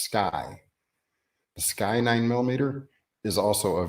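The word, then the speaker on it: SCCY: cost wanted to see or SCC why it's pronounced sky sky nine-millimeter is also a very budget-friendly excellent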